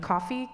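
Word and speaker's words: Ko-fi: Coffee. K O- Fi. Spell it.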